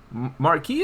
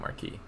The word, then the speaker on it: marquis: Marquee is how the average American would pronounce that word.